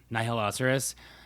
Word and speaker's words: Nihiloceros: people say like like nihiloceros but if you say nihilism like nihilism instead of nihilism then it's so it's however you pronounce nihil and then the second half of rhinoceros gotcha yeah so i